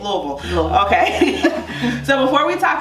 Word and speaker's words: Louisville: We say Louisville, Louisville. That's it. Did I say it right? You did. Louisville.